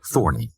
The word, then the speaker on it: Thorne: war was well underway he changed his name to to Larry Thorne although he preferred the hybrid pronunciation thorny Larry had been living